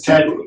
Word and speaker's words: Tempe: I think it's Tempe.